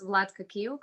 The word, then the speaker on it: Vlatka Kiuk: it's okay so hi everybody my name is vladka kyouk i'm from croatia small country in europe close